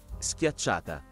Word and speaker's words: Schiacciata: Schiacciata.